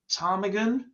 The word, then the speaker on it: Ptarmigan: James, Daniel, Craig, Ptarmigan. Why is there a silent P there?